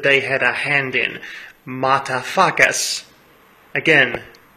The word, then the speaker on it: Mutafukaz: So naturally I was quite excited to see the new film that they had a hand in, Mutafukaz. Again, it is pronounced as it is written.